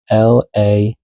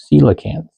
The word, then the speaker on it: Coelacanth: Somebody was just shaking up letters and just tossing them out there, and this is how you pronounce Coela. Nope. Coelacanth. Pronounced coelacanth.